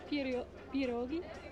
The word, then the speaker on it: pierogi: I'm pronouncing it all wrong. Is it pierogi? Yeah, there you go. That sounds good.